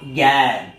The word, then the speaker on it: জ্ঞান: কি করব না জ্ঞান তাহলে এখানে কিন্তু জ এর কথা উচ্চারণ নেই কিন্তু একচুয়াল উচ্চারণটা দাড়াচ্ছে এরকম কিরকম না জ্ঞান তাহলে অনেকটা গ এর মত উচ্চারণ হচ্ছে তাহলে এটা হচ্ছে বড়িয়া